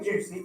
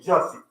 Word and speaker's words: Jussie: I didn't say Juicy. I said Jussie.